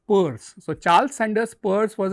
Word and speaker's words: Peirce: The another important theorization came from America in form of Charles Sanders Peirce, though it is written as P-I-E-R-C-E, pronounced as Peirce.